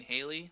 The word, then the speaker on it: Halley: You mean Haley? Like Haley's Comet? Correct. Haley, It's H- pronounced Haley, but yes. If you're British, Well, they call I'm- it Hallie as well.